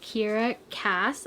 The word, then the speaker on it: Kiera Cass: book called The Betrothed, and it is by Kiera Cass, I believe is how you say her name, and she's the author of the selection.